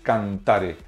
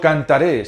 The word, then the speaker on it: cantare: Yo cantare, tú cantares, él cantare, nosotros cantaremos, vosotros cantareis, ellos cantaren. No cantaré, sino cantare, con acento en la segunda A.